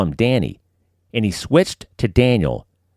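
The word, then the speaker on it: Dhani: George Harrison's kid is named Danny, D-H-A-N-I, pronounced Danny. You could go with something like that. I always assumed it was pronounced Donnie, but then I heard Paul McCartney say it, and he said Danny.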